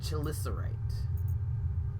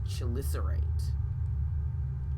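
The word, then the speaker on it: Chelicerate: word you are watching it sounds like she listener rate chill Lissa right she'll listen rate okay so it's pronounced shil is irate fair enough crypto circus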